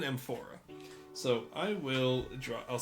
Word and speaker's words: amphora: It's not called an aorta. It's called an empora. So, I will draw I'll spell that for you guys. Amphora.